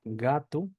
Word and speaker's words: gato: bien la O sí la o cuando está al final per y no es acentuada o cuando está sola se pronuncia como u sí u Entonces por ejemplo tenemos la palabra gatu gato que se pronuncia